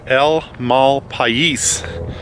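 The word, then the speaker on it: El Malpais: name it's actually pronounced El Mal pis so it's a Spanish name and uh it means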